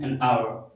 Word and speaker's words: hour: and hour like v an hour this h is not pronounced this is silent so this is our